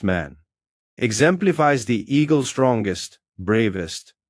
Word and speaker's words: Men: In Mayan, men pronounced man exemplifies the eagle strongest, bravest, and wisest of all birds.